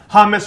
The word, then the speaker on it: James: going to Colombia and he spells his name James but you pronounce it James jamus Rodriguez he plays in the